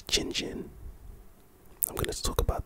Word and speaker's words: chin chin: No, it's not shishing, it's chin chin.